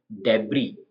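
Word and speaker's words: debris: होता है नेक्स्ट है डेबी तो डेबी में एस नहीं बोलना है डेबी का मतलब होता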